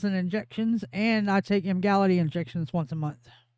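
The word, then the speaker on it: Emgality: Igality, which sounds like you're saying it wrong. I'm not. I said it sounds like you're saying it wrong. It's Mgali. Boy, good old sounds like you're saying it wrong. That's not how letters work.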